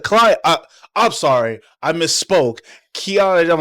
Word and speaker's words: Kiana: I mispronounced your name. is Kiana. I think the L and the I just if dyslexia.